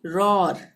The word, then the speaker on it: roar: ROAR, इसको हम क्या पढ़ेंगे? रॉर। OA आ गया ना यहाँ पे, यहाँ हम पढ़ेंगे इसको रॉर।